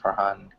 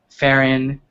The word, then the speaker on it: Farhan: Or Farron. I've heard people call me Farron. I'm like, there's an H in my name. Like, you're supposed to pronounce it, right?